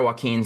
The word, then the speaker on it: Joaquin: Yeah, so my partner Joaquin still works in banking. That's how you pronounce it. Yeah. Dude, I never knew how to pronounce his fucking name, and he'll come into Chan. Joaquin.